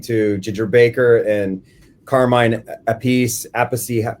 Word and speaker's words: Appice: And Bonham was listening to Ginger Baker and Carmine Appice, however you pronounce it. I say Appice.